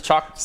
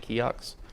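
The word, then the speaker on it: CIOKS: You know how I figured out that's how we use it's Chocks instead of Kiox? They make a pedal power thing called a chocolate bar. Oh. And it's spelled like that. And I was like, oh, well, I guess we're all just wrong the whole time.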